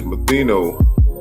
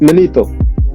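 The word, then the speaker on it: Manetho: And what happened is Matheno. That's how you say it, Matheno, or how you say it again? It's Manito.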